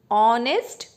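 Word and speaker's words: honest: इसलिए इसके आगे हमेशा इसमें भी आगे साइलेंट रहता है और हम हमेशा इसको ऑनेस्ट प्रोनाउंस करते हैं इसका साउंड हमेशा वावेल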